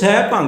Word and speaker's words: Saibhang: Now you should pay attention to the pronunciation of Saibhang. Also, many Gurmukh lovers who start reading new verses or children sometimes mispronounce Saibhang.